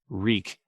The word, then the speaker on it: Reek: sweet as honey reek reek it rhymes with sneak the deaths set ruse